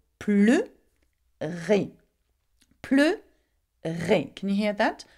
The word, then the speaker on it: pleurer: So the difference is that in the infinitive, you pronounce the E, E, but when you conjugate it, you pronounce it er. Why? Because it has an open sound at the end, okay?